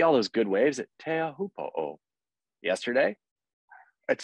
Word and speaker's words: Teahupo'o: Can we refer to it as Teahupo'o? Teahupo'o. Okay. Teahupo'o. You gotta add the extra O.